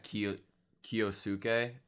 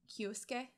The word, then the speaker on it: Kyosuke: I think I have Kiyosuke. Yeah, Kiyosuke. Mm-hmm. Kyosuke, I have so many mixed emotions about him, man. Would like it be pronounced Kyosuke? Kyosuke, yeah, Kyosuke, you're right.